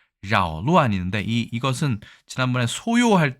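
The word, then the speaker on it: 搅乱: 발음도 사실은 교자에 가깝게 각이 아니라 교자에 가깝게 자오라고 이야기하는 것을 알 수 있습니다. 자오루안인데 이것은 지난번에 소요할 때 그 요자 있었죠?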